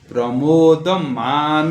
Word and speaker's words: प्रमोद: दिगंत संततिर दिगंत संतति प्रमोद मानसे प्रमोद मानसे प्रमोद ओकार है प्रमोद दीर्घ प्रमोद मानसे प्रमोद मानसे प्रमोद